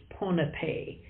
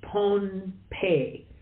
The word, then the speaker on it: Pohnpei: not the old days uh some still Now pronounce the name of the island as ponape uh but that's sort of an English version